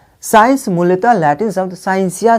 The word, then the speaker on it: scientia: Latin शब्द साइंसिया से लिया गया है। साइंस कहाँ से आया हुआ है? लैटिन शब्द साइंसिया से साइंस का निर्माण हुआ है मूलतः, जिसका उच्चारण हिंदी में साइंसिया होता है।